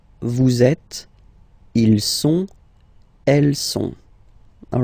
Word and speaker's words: sont: Okay, ils sont, final T not pronounced.